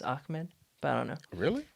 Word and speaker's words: Ahmed: because sometimes it's like even though it's h m e d it's ahmed but i don't know